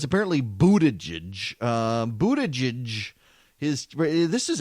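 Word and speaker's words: Buttigieg: been saying but a judge but it's apparently Buddha judge Buddha judge his this is actually the reason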